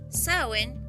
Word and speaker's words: Samhain: mundo ni al otro saen pronunciado de esa manera es la palabra del gaélico Irlandés que designa el mes